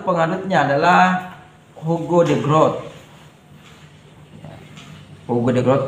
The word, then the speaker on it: Hugo de Groot: Hugo de Groot tulisannya sama ejaannya ya.